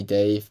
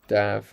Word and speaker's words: Dave: booktube dave is live i always feel like i have to say dave but i know like i remember he said he likes to be pronounced dab i think i actually